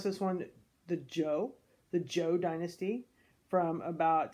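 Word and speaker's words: Zhou: BCE and then we have you say you pronounce this one the Jo the Jo dynasty from about 10:45 BCE all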